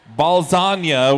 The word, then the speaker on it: Balzania: to face the team Balzania, which is spelt like lasagna, for those of you wondering.